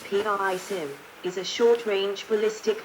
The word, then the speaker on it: PrSM: the Precision strike missile prsm pronounced p i Sim is a short range